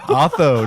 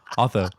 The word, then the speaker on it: Otho: I think it's Otto, no? Otho. No, it's spelled Otho. Otho.